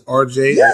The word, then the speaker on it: Arjay: And fans, just so you know, it is Arjay, and it's spelled Arjay.